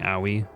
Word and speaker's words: Aoi: It's really funny listening to everyone pronounce Aoi's name because they go Aoi instead of just going Aoi, like a normal person.